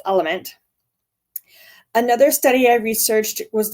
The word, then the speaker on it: LMNT: of my favorites is the element it's lmnt um pronounced element another study I researched